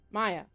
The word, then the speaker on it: Maya: Is that how you pronounce that? Yeah, Maya Borodich. June 20th in the morning. Maya? Maya.